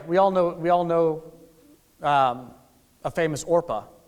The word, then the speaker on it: Orpah: Oprah's real name is actually Orpah. The Oprah that we know, Oprah Winfrey, but people couldn't pronounce it, so she decided to go with Oprah, and that's that.